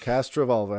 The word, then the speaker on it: Castrovalva: we made it to cast Revol everybody we did it we're not pronouncing it wrong we're pronouncing it how they say it in the show over and over again they're here cashola yep